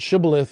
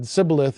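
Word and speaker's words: Shibboleth: used it for a password uh they said shith and they said cilith and they knew they they couldn't say it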